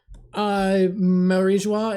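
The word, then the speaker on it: Mary Geoise: Am I saying it right? Marijo? Marijois is what I've heard the most, but who's to fucking say?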